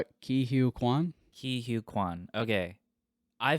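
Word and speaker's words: Ke Huy Quan: Ki Hugh Kwan.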